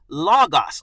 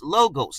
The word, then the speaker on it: logos: Now, if you know anything about this particular word, it is the word logos, or some pronounce logos.